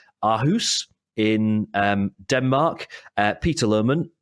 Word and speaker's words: Aarhus: How was my pronunciation of Aarhus? It's Aarhus, if it's to be.